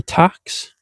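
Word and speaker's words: Tacx: So, this one is a tax, so it's spelled T A CX.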